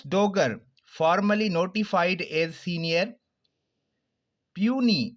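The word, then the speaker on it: puisne: formally notified as senior पूनी इसका pronunciation होगा पूनी साइलेंट है ज आफ्टर चीफ जस्टिस आमिर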